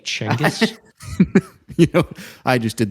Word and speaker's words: Chinggis: sleep on the Apparently his name is actually pronounced something closer to like changus you know I just did the most embarrassing